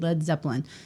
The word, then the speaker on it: Led Zeppelin: Well, they changed I don't know the anything much spelling about- because they didn't want people to use the wrong pronunciation of lead, so they changed it to LED, Led Zeppelin.